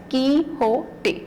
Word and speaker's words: Quixote: is ki hote ki it is pronounced as ki hote so it is the